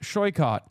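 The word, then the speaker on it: Saikat: Tell them that my name is pronounced shycott. And they should learn that.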